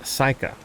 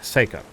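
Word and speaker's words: Seyka: and they have a huge settlement and we will be working with one of the Quinn called Psycha Seika. I keep saying it wrong. Seikka.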